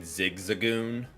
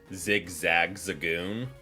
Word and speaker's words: Zigzagoon: My most memorable mispronunciation was calling Zigzagoon Zigzag Zagoon. I just added in extra letters there.